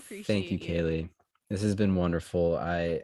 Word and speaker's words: Kayleigh: can they find you on youtube your name kaylee is spelled with a gh would you like to